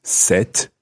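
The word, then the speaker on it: cet: man the male student the masculine word it's set c-e-t and for the female student is set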